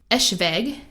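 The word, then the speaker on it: Eschwege: I looked it up how to pronounce it. Eschweg.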